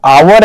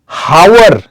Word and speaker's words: hour: आप लोगों को तो ये पता ही होगा कि जो आवर है, हावर प्रोनाउंस नहीं करते हम लोग, आवर करते हैं, राइट।